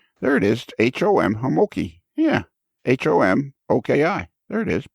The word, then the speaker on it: Homoki: perfect yeah there you go how do you pronounce your last name oh you had it exactly right homoki hamoki because it's h-o-m-i-k-a oh okay h-o-m-o-k-i okay